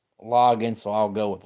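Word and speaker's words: Loggains: be either Logan's or low gains hey there Rob glad to have you here because it has a a in it but they say it's pronounced loggin so I'll go with loggin anyway he was the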